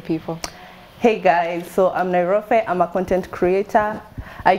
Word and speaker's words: Nairofey: I don't know how to pronounce it. Nairofey? Yeah, Nairofey.